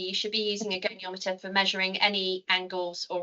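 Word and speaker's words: goniometer: And there there's one more question is presumably apologies for pronunciation. Presumably a geometer is required. Gonometer.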